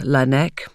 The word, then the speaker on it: Laennec: His surname comes from the Breton word Laennec, which means scientist or expert, but is roughly pronounced Laennec, which hints at where the device is most often kept.